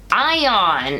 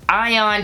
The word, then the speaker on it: Ion: we found out that his name is going to be ion it's iayon so ion he did say it like out loud so you know how